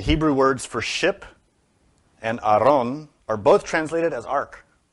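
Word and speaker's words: ארון: ark and this also in Hebrew does not say Arc it says Aron which in English letters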